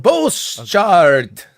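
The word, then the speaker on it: Bosschaart: It's 2 A's together. How do you say 2 A's together, Robert? Boschart. Okay. Just like that.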